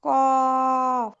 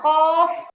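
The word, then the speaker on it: قاف: তারপরে কফ ক না কফ কফ কফ ক এর পরে একটা ফা এর উচ্চারণ কফ কফ হ্যা লাস্টে ফাটা স্পষ্ট করে বলবেন কফ হ্যালো হ্যা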